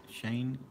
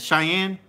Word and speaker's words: Cheyenne: that's yeah shot Chinese Shane yeah I that name sounds familiar that's probably the Air Force Base this Cheyenne is that it Cheyenne is how you say it that's the city's name yep yeah you guys